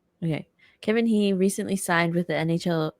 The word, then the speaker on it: Kevin He: guys miss this news Kevin he that's how you pronounce his last name right okay Kevin he recently signed with the